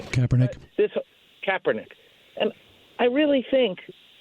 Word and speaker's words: Kaepernick: I never know how to pronounce that guy's name. Kaepernick.